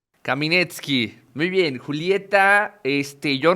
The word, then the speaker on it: Caminetsky: tenido invitados con apellidos bastante complicados Cómo se pronuncia Julieta kaminet kaminet muy bien Julieta este yo nos acabamos de